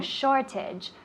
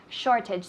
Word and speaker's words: shortage: good perfect so shortage shortage the emphasis of the word is in the first syllable shortage not shortage shortage very good what does